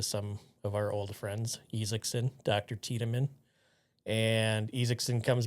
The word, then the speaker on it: Isaacson: first name, but he goes by Isaacson, which we would pronounce it as Isaacson. We would. Yes, but we're not from Norway, so No. that's why we wouldn't pronounce it Isaacson.